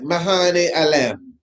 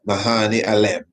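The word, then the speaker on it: Medhane Alem: Bete Mahane Alem. It's spelled Medhani. Sometimes you don't hear the D pronounced. Mahane Alem, Savior of the world.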